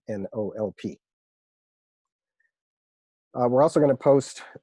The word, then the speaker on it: NOLP: And when you hear me say NOLP, I'm not choking. That's just how I pronounce the acronym for the program, NOLP.